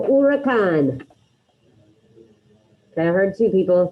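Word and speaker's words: huracán: first one el-ura khan remember the h is silent so you have repeat on el urakan okay i heard two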